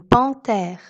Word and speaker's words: panthère: lettre h exemple une panthère dans le mot panthères le h ne se prononcent pas donc le h est muet au milieu du mot